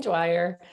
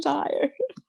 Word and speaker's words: Dyer: it like amareli's here wayne dwyer wayne dyer like joanne meyer so you cannot force